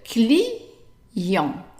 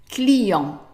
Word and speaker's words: client: The T at the end is silent, and the I is pronounced like an E. However, just like in English, the I followed by a vowel is pronounced like a sound Y. So, how would you pronounce the whole thing? Very good. Client. So you hear that there is a Y in it.